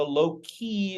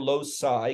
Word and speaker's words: loci: of a locust is a low-key or loci can be pronounced either way and it looks like